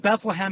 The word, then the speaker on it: Bethlehem: me also correct you the town of bethlehem has only two syllables it's both come on come on get it right bethlehem pennsylvania okay i was